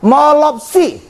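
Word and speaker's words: μώλωψι: Kalau jamaknya apa? Molopsi, M-O-L-O-P-S-I. Jadi jamaknya tambah S antara P dengan I-nya. Molopsi.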